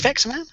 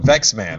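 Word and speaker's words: Vectorman: man yeah yeah yeah but you call it vexman I just no sorry I mispronounced I I'm in my brain I was saying vex man because I know it because I love it but I'd probably just pronounced it wrong I'm I'm English yeah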